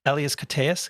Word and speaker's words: Elias Koteas: Elias Koteas.